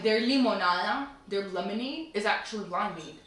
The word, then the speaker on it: limonada: Look how she pronounces it though. Limonada. I'm fucking dead. I thought she was fucking around, but she was dead ass, yo. That's really how you pronounce it.